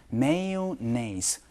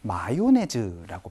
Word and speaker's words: mayonnaise: 근데 마요네즈는요 mayonnaise 라고 얘기를 할 수도 있지만 혹은 mayo라고 줄여서 표현하는 거 둘 다 알아두시면 좋겠습니다. 마요네즈라고 발음하지 않으니까 이거 알아두시면 좋겠죠.